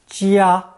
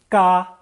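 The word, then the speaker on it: 家: And jia is pronounced ga in both of those dialects.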